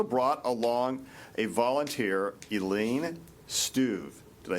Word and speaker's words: Struve: She's also brought along a volunteer, Elaine Struve. Did I say it right? Struve. Struve.